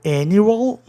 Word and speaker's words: annual: Anual, annual, palavra proparoxítona. Por quê, pessoal? Tem 3 sílabas? Tem. Termina em vogal consoante? Termina. Isso significa o quê? Que é um sistema especial indicando proparoxítona. Então, o ditongo UA vai funcionar, né? Annual é um ditongo crescente. Mas a sílaba tônica fica na terceira casa silábica. Há 2 consoantes, o A soa entre A e E. Annual.